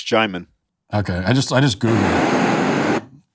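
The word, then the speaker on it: Djimon: best way you can apparently I'm pronouncing his name wrong is it Jim Jim hansu yeah it's Jim okay I just I just Googled I just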